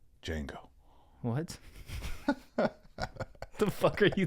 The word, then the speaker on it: Django: The D is silent. Django.